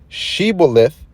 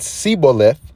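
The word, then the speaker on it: shibboleth: right siboleth all right see see that there's a difference right there shebolf and siboleth for his he could not frame to pronounce it right you know and that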